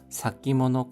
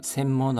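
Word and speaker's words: 先物: 지표가 시효 となる 지표가 되는 사키모노 価格が 사키모노, 센모노 아닙니다. 선물인데 센모노라 발음하지 않고 사키모노라고 발음합니다.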